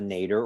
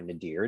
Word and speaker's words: nadir: house cusp, also called the nadir or nadir, depending on pronunciation that people choose.